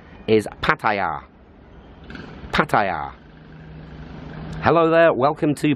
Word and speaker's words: Pattaya: And pronunciation number 3, which is also very popular, is Pattaya. Pattaya, which could be spelled P-U, P, and then Taya, as in the things you stick on your car.